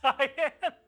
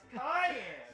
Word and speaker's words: cayenne: Did that cyan? It's cayenne. No, that's how you pronounce the color.